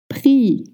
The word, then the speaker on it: prix: Number 8, prix. P-R-I-X. Le prix, un prix. Le prix means the price or the price, and we don't pronounce the X at the end.